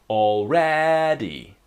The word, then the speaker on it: already: already and let's start with the pronunciation we have three syllables all ready right the strong syllable is in the middle the second syllable already right already try with me already okay the idea